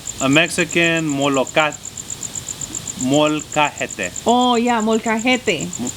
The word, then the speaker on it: molcajete: So it's called a Mexican molcajete.